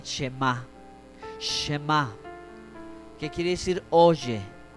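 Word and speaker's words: שמע: través del profeta Isaías, en hebreo se pronuncia el Shema.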